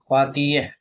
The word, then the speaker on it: pâtissier: अब आते हैं एक हाईली स्किल रोल सेफ यानी कि पातीय पातीय। ठीक है? उसका स्पेलिंग होता है पी ए टी आई एस एस आई ई आर यानी पेस्ट्री से।